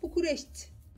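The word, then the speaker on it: București: Ancak bazen bazı kelimelerin sonundaki i'leri yarım okuyorlar. Yani örnek veriyorum. Bukureşti diye yazılıyor. Bukureşti, değil mi? Biz böyle okuyoruz. Ama bunun telaffuzu Bukureşti. Yani bir orada i var da t'den sonra ama yok da gibi. Yarım ses çıkıyor.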